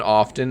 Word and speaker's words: often: right let's keep going did you know that the t in often is not pronounced you can pronounce the tea and often you can say often i wanted to enunciate and say often because if you just say often then it sounds like oven the hot fold cold